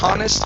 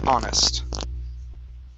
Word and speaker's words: honest: That H is silent. So instead of honest, it's honest. Okay?